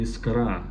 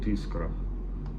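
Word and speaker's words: Искра: for translation isra well in Russ it will be isra but by some reason many people call it iscra l isra me this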